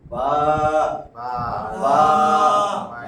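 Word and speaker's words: بَا: বা আকারে বা, একটা শব্দ হইলো না, বা আকারে বা, তাহলে এটা 1 আলিফ টান দিয়া পড়তে হবে, বা বা। বা বা বা।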